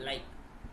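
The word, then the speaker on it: lichen: ये जो लिटमस है ये एक प्लांट से ऑप्टेन, इसको हम बोलते हैं लिचिन, या इसको अलग प्रोनाउंसिएशन में लाइक बोलते हैं, लाइक, ई एन लास्ट में यूज नहीं करते, इसको हम लाइक बोलते हैं, ठीक है ना।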